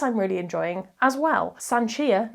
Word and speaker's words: Sanchia: Sanchia, not Sansia, which I think I said in my TBR, helpfully it has a character explain how to pronounce the character's name, which I always love.